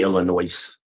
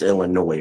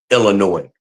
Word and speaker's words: Illinois: So, I hate when people say Illinois. You don't pronounce the S. It's Illinois, right? It's the way I've always heard it. Even when I lived in Chicago, that's the way the natives pronounced it. Illinois.